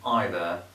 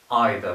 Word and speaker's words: either: for these words so we can pronounce these words in two different ways either for example can be pronounced either as I just mentioned